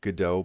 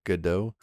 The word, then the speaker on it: Godot: waiting for their friend godot so i try to pronounce it with a more french accent although my french is